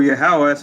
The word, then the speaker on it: Yahawah: verse 11 which reads the Lord said or yahawah how you say his name in the ancient Hebrew yahawah said verily it shall